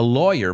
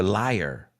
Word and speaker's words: lawyer: A lawyer, vamos a pronunciar esa por favor, porque mi mujer siempre ha dicho liar. He's a liar. I go, yeah, well, possibly, but his profession is lawyer, law. He studies law, like awesome, and he's a lawyer,